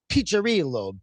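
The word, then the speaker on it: Piccirillo: And and it's pronounced picherillo. The double C is a cha.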